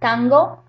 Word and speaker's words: tango: You can notice that when you say that, tango, that you're pronouncing the N in the velar region or in the velar. You're pronouncing it further back than you normally would.